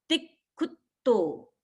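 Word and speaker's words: तिक्खुत्तो: तो इसको हम बोलेंगे तिक्खुतो, तिक्खुतो। ती पर दबाव आया क्योंकि पीछे संयुक्त अक्षर है, और खू पर दबाव आया क्योंकि पीछे भी संयुक्त अक्षर है, तिक्खुतो।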